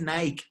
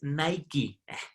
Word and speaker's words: Nike: Mi esposa es gringa y ella dice, no se dice Nike, es Nike.